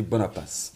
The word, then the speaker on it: Bonapace: elle s'appelle madame bonapach tout à l'heure j'allais dit bonapass quoi que ça dépend du côté de l'océan dans lequel on se trouve pour la prononciation madame bonapa bienvenue